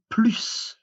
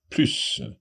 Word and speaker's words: plus: Tu dois manger plus. Okay. Tu dois manger plus. You need to eat more. So there, I just watched that plus. We pronounce the S on plus because it means more, but we'll have another